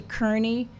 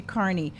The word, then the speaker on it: Kearney: So it's not actually Kearney. It's supposed to be Mom and Dad say. You have to have an accent to say it properly, though, which is why I think they couldn't spell it. So the way the Prime Minister of Canada says his name is actually how you say my name, but it's spelt differently. So it's supposed to be Carney.